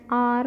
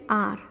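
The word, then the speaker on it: hour: Example, an apple, an R. Now you will say that H here is H, which is a consonant, but why an then? H is silent here, and so it is an R.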